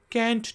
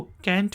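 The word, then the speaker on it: can't: Contracted form है इसकी, आई कैंट डू it. American English में हम इसको कैंट पढ़ेंगे और ब्रिटिश एक्सेंट में हम इसे कांट कहेंगे, पढ़ेंगे।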